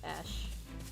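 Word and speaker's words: Ashe: ashy i always say ash there you are hey there you must be that mercenary i've been hearing about i'm ash and and i may still get like ash so the e is silent at garrus mark officers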